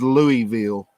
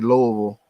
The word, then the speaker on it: Louisville: it that's actually the way you're supposed to pronounce it is louisville but around here in kentucky people say louisville yep louisville or louisville this is yes lee